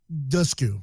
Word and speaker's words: Dushku: an actress Elijah dis canoe a la Eliza Dushku dusk you right that's correct pronounced at least mispronounced their last names all